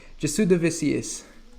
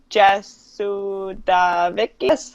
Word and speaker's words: Jasudavicius: Jasudavicius.